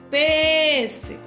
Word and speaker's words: pêssego: E aqui foi a antepenúltima, pêssego, né? A gente falou a antepenúltima, porque olha só, o go é a última, o C é a penúltima e o pês é a antepenúltima, tá bom?